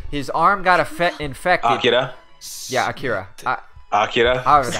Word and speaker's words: Akira: It's like as a big fan of Akira the film, you know, whenever people say that name wrong, I always have to correct them. Okay. Always. Akira. Not Akira.